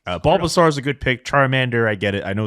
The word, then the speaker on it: Charmander: A Smith uh picked Charmander when he was asked this question oh did he see Stephen A is older than me so yeah well actually he pronounced it shander and the only reason